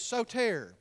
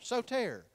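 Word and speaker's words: σωτήρ: word Savior for instance the Greek word for Savior is so tare you can spell that if you're taking notes sot ER so tare that's the word for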